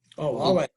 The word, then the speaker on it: Huawei: Is it Huawei? Oh, Huawei. Yeah, Huawei. That's what I thought. I figured I was going to mispronounce it.